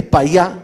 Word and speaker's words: Payá: Bueno, Rosa María Payá, que en realidad es Payá, Rosa María Payá. Ustedes saben que los argentinos tenemos dificultades para pronunciar eso.